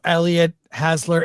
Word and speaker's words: Elliott Hasler: Hey, welcome to the show, Elliott Hasler. Is that the right pronunciation?